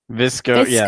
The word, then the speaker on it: VSCO: described came up so I'm assuming it's visco yes like visco but with V all right anyway so